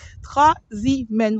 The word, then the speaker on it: Trasimène: c'est une journée, voilà, avec nous au lac Trasimène. Regardez sur internet, Trasimène, ça s'écrit Trasimène, accent grave, N-E, voilà.